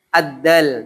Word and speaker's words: د: Ya, dal cara bacanya ujung lidah bertemu dengan seperti ta. Ujung pangkal gigi atas atau tempat tubuhnya gigi atas, gusi. Ta sama da. Dia termasuk dari tertekan. Maka agak tertekan.